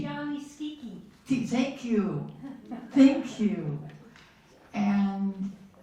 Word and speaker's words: Schicchi: That you can, You can look at, I'm not going to try to pronounce that. Gianni Schicchi. Gianni Cicci. Gianni Schicchi.